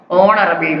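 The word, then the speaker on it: honorable: ஹச் சைலண்டாகவே எப்படி pronounce பண்ணுவோம்? ஹானரபிள் மேன்.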